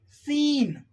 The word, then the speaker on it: scene: after the letter s when the letter c comes after the letter s it is silent then in that case we will have to keep this letter silent as we can see a few examples like muscle scene sent many more can